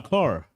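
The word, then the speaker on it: Ker: For those of y'all who don't know me, my first name, has no H, and my last name, Carr, has no A. It's K-E-R and pronounced Carr.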